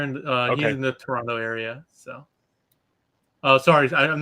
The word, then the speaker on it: Toronto: uh he's in the toronto area so oh sorry i'm not supposed to pronounce the second t in that toronto right no no toronto that's good all right well this